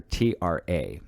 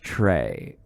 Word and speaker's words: Tra: So her name is spelled on the roster T-R-A, right? And so I saw it in the first day of school. I said, Tra? And she's like, no, it's Trey.